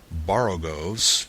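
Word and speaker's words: borogoves: rhyme with Groves again the first o in barrogos is pronounced like the O in borrow I have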